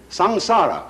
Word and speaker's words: samsara: sanskrit s a m s a r a samsara it's pronounced samsara and although samsara is represented in